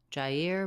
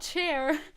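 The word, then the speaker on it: Jair: presents how to pronounce Jer bolaro jer jer not chair Jer okay I can do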